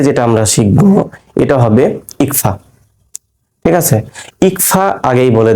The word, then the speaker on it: ইখফা: যেমন বাংলা, এই যে নং সাউন্ডটা আসছে না, অনুস্বরের সাউন্ড যেটা, এটাই হচ্ছে আপনার আরবিতে যখন পড়বো আমরা ইকফা, ঠিক আছে? ইংলিশ ইএনজি যে সাউন্ডটা, এটা হচ্ছে ইকফা, ঠিক আছে?